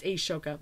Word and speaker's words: Ashoka: Asia himself and I like I said it's Ashoka my apologies I mispronounced but I know who he is at